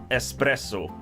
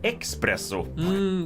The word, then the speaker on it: espresso: it in English before it's an espresso and that's how we pronounce it in Swedish as well the problem is a lot of sweds pronounce this espresso that's actually something that